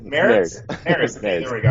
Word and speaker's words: Mares: Welcome to the Primal Show with your host, myself, Heath Squire, and today we have Justin Mars. Is that pronouncing it right? Yeah, Maris? yeah, it's married. Maris? Maris.